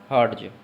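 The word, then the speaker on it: Hertz: इसका प्रोनाउंसिएशन होता है हर्ट्ज। क्या होता है? हर्ट्ज।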